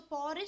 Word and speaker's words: porridge: Okay, so porridge spells Porridge. So there are two R's in porridge. Okay, so when you are pronouncing, you should say porridge.